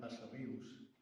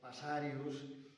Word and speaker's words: Passarrius: Però a Mallorca, essent aquest un cognom no habitual a l'illa, es presta a diverses pronunciacions. Algunes aberrants, com el Passarius d'aspecte llatinitzant que qualque vegada he sentit.